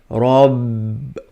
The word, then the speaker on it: Rabb: We have two bars here. One was already silent. The second one, you turn it into silent. Now you're going to read it as Rabb.